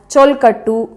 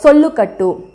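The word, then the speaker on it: solkattu: group of rhythmic syllables so you can also say sholkatu as chol khattu sholkatu or sollu kattu but the meaning is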